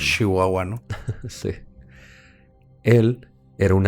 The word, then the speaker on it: Chihuahua: en méxico de que pronunciamos mucho las es que lo pronunciamos más como una de sh no decimos chihuahua no sé él era